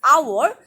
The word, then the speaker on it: hour: yes and our h here h is silent h is generally you know consonant but yet it's because of its pronunciation you have to use an h because here in the word hour your h is silent